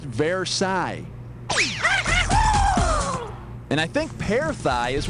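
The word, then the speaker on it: Versailles: thigh or her pale knee I think it's paraai it's a French palace with a bunch of mirrors and stuff and they signed a treaty there that ended like World War I or something it's pronounced verai and I think peigh is what you get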